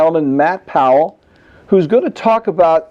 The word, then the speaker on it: Powell: Powell, is that, did I say it correctly? Powell, yes. Powell.